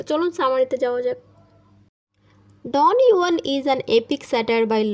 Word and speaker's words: Don Juan: তো পোয়েমটার নাম হচ্ছে ডন জুয়ান, যেটাতে যেটা আসলে উচ্চারণ হয় না, এটাকে ইউয়ান বলে, ডন ইউয়ান।